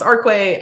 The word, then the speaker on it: Arquay: So first off, my name is pronounced Arquay.